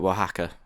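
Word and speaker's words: Oaxaca: what it looks like Waka if that's how you pronounce it that is how you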